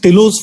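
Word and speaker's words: Tillaux: It's a telos fracture. The X is silent here.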